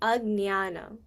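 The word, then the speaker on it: अज्ञान: Um remember that J becomes a G. G. So, and you don't like um you don't like when you pronounce the N, it's very light. So, how it be would be agnyana.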